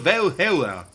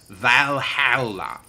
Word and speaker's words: Valhalla: in the halls of valhalla what that's not how you say it it's valhalla and besides that's a